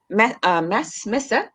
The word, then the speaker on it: messe: there is a pilgrim messe. How do you say that? Yeah, mess.